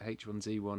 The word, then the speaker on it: H1Z1: developers they call it h1z1 it was made in America that's how it's pronounced you know so that's